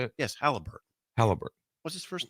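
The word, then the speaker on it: Haliburton: Yes, Halliburton.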